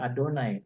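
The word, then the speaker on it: אֲדֹנָי: Ya, kalau kita bahasanya bacanya Adonai, ya kan.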